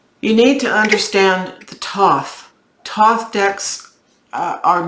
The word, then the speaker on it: Thoth: But people forget that the Thoth decks come from the book of Thoth, or Tot is how it's said in the Egyptian culture.